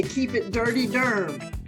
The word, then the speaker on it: Durham: um yes they say keep it dirty Derm u r m is how you spell it when you say it that way because and and Durham